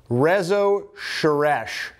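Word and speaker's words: Rezső Seress: I will admit I had no idea how to say the name of the author of Gloomy Sunday, and it turns out it is Rezo Sheresh.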